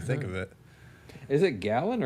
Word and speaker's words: Galen: of it is it gallon or Galen it might have been Galen I don't know or no I think you might be right I feel like I hear people say Galen okay I just if I read it g-a-l-e-n I'd assume Galen you assume Galen I assume gallon I don't know why